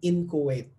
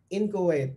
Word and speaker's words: inchoate: Future inheritance cannot be renounced because they are merely inchoate. Inchoate, it's spelled I-N-C-H-O-A-T-E.